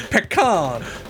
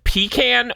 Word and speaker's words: pecan: because you can say you can say equal syllable length pecan or you can say pecan you can't do anything in between these are the two poles you will magnetically be drawn to one or the other or if this rated